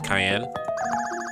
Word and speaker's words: Cayenne: You say your name is Cayenne? Yes, it's pronounced like the pepper.